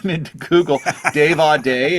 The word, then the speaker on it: Audé: name into Google Dave a day it's it sounds great but it's sometimes it's hard to spell it's a u d e Dave a day super easy beautiful well man what